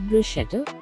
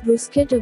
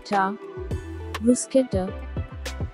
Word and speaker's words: bruschetta: looking at its spelling most of the people pronouncing it is bruschetta it's not bruschetta it's bruschetta bruce k rusketta bruschetta a kwasong is